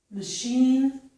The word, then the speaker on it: machine: Here we have words with the letters CH, which make the sh sound. This is charade, chef, Chicago, machine, mustache, and brochure.